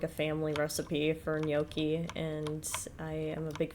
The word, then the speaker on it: gnocchi: I thought you said yoki? No, no, not yoki. Just... No, gnocchi, so, let me spell it.